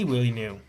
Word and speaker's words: Villeneuve: Who is this Willie New guy he's talking about? It's Denis Villeneuve.